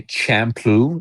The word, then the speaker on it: Champloo: Samurai Champloo. It's kind of like shampoo but spelled with a C.